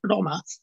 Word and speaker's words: Roma: the our name is in the old dialects of our language is pronounced loma with a retroflex r and that's the clue to its origin it's it's the cast name